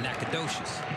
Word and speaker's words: Nacogdoches: it's just a production the one in louisiana you don't call it nakadoshi you call it nakanish one in texas you call it nacogdoches first down